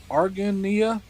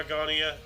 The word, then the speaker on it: Argonia: That's not how you pronounce it. Anyways, a city in Kansas elects Susanna M. Salter as the first female mayor in the United States. Nice. I bet a lot of people were salty about that. I think? Argonia, I think it's pronounced.